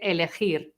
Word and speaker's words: elegir: And remember to pronounce the R at the end, okay? Elegir.